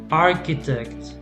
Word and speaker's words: architect: b is silent yeah architect the age is silent here architect column column mechanic